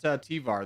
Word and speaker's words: Tvar: He was just the only person that didn't help us out, take out Tvar, the guy I was saying Tsar the whole game, but it's not Tsar.